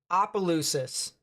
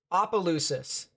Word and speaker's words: Opelousas: It's like operate, not ooper. So it's Opelousas. Opelousas. That's how it's pronounced. Okay. So there you go. Opelousas. Like operate.